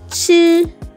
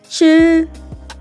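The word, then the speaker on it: 七: leave for my voice it's a flat tone and then it's pronounced here it's flat it's not falling and it's not rising it's just there it's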